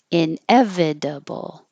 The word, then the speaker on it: inevitable: And 5 syllables, inevitable, inevitable, inevitable. And if you leave out the V, it will sound like inedible, inedible. Well, you leave out the V and a syllable.